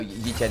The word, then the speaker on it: Yichen: No, Yichen is the Chinese pronunciation of 1xm.